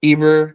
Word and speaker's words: Eber: Sometimes you can see Eber's name written with an H, but the H is silent.